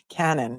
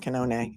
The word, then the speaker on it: Canone: In the Boston Globe, they wrote Cannon, not Canone. We know it's Canone.